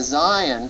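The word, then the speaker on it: zayin: diagonal that's the Hebrew letter Zion and it's the z sound in Hebrew the next letter that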